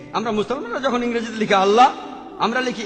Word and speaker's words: আল্লাহ: ঠিকভাবে উচ্চারণ করলে আমরা বলব আল্লাহ তারা বলে এলা সমস্যা নেই তবে সঠিক উচ্চারণ হবে আল্লাহ পরে যখন রেফারেল স্কফিলড বুঝতে পারলেন যে তিনি